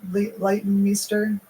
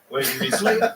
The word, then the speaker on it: Leighton Meester: Leighton Meester? Leighton Meester. Leighton Meester.